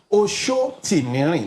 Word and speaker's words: Oshotimiri: Oshotimiri, that's the full pronunciation.